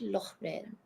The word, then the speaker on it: Lorraine: In this case, like the AI, it's almost like the accent grave. Like the AI and this. What else? I'm trying to think of all the ways. This is so hard. That's all I can think of. They are pronounced the same. AI and is, which is why you hear the in Lorraine. Lorraine.